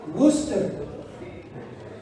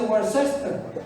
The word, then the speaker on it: Worcester: ¿Por qué dicen Leominster cuando debe ser Leominster? Y peor todavía, Worcester cuando dice Worcester.